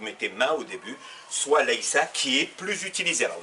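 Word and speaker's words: لَيْسَ: Donc d'abord, je ne suis pas lestu, tu n'es pas lesta, tu n'es pas féminin lesti, il n'est pas, donc c'est l'infinitif laïsa, c'est le seul où il n'y a rien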